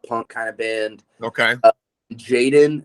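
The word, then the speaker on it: jxdn: like a pop punk kind of band okay Jaden it's spelled j-x-d-n he's imagine MGK but like he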